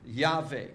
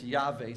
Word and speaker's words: Yahweh: oops for pronouncing that we just take a shot at it and say it's yave some people say Jehovah what's the importance of